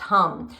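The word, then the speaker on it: ham: The seed sound is spelled H-A-M, but it's pronounced hum.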